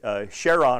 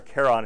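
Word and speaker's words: Charon: uh and interestingly uh cheron or Kon however you want to pronounce the large natural satellite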